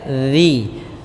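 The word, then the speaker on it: ذِي: Z dengan Zai ya Jangan dibaca dengan Zi tapi dia zzi ulaikalladina kemudian alladinarudalah di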